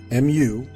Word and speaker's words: Mu: Our ancestors teach us that the Mu, M-U, M-U-U, is pronounced Mu, and some even bring